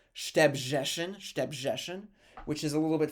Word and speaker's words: Szczebrzeszyn: It looks crazy because there's no vowels, but the name of the town is pronounced Szczebrzeszyn, which is a little bit further south in the Congress, Poland.